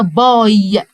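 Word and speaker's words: bye: قسم الكلمه جود وباي والاي في الاخر ما ننطقهاش جت جت ليه الاي جت عشان تساعد الواي اللي قاعده جنبها تقول واي عشان كده قلنا باي هو النطق بتاع الواي باي لكن الاي في الاخر ما انطقهاش يبقى جود باي جود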